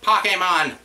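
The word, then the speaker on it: Pokémon: It's pronounced Pokemon.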